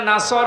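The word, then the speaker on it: نصر: এখানে সোয়াদ আছে, নাসর মানে সাহায্য, আর নুন সিন র নাসর মানে ঈগল পাখি। আপনি যদি মুখটা গোল করে শুদ্ধ করে উচ্চারণ না করেন, অর্থ আকাশ পাতাল পাল্টিয়ে যাবে।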